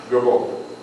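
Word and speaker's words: Grabouw: And he would go, Gabon. It's spelled G-R-A-B-O-U-W, Gabon.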